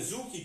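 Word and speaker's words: tsuki: Natomiast Gyakuzuki, Gyaku znaczy przeciwny, Zuki czy Cuki, w zależności od kwestii wymowy, to jest to uderzenie proste, ale przeciwne do nogi, która znajduje się z przodu.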